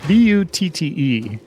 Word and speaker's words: Butte: The monkey butts, but it's B-U-T-T-E. How would you pronounce that? I think it was the Monkey Butte.